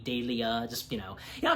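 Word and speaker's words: Delia: her name is pronounced daia so you know it's like you know you say Julia but with a d daia just you know you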